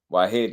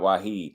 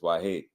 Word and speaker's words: Wahid: seeing you say that Wahid wahed not Wahid is wahed if I'm saying it right right Abdul W salute